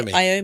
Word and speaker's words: Iommi: My apologies for mispronouncing all Black Sabbath Tony Iommi. Yeah, Tony What is it? Tony? Tony Iommi.